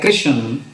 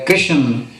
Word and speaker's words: कृष्ण: जिव शब्द है कृष्ण इस शब्द विच कका अखर द सहारी रारा नाल बोलनी बन है त शब्द बनदा है कृष्ण ज इस निज पालना ना कीती जावे ता इसका उच्चारण बनेगा कृषण जो के ठीक नहीं होवेगा गुरबाणी विचों कुछ प्रमाण